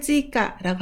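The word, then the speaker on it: 追加: 추가를 찌까라고 합니다. 여기 포인트가 추가되는 표현을 나타낸 건데요. 지도 찌까 하면 자동으로 추가됐다라는 뜻입니다. 추가를 찌까라고 읽습니다.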